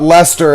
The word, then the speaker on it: Leicester: It's like when Corey was talking to me about Leicester, and I had to inform him that I don't care how British fucks it up.